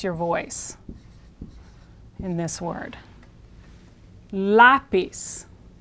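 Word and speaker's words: lápiz: voice in this word lapis it's not lapiz because the accent is here lapis lapis the Z in Spanish is pronounced as an s in Latin America lapis so we have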